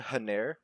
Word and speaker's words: Haner: It's spelled Haner, Haner, but the narrator does say Hena, so I don't know if that's just how you pronounce that word or how he decided to.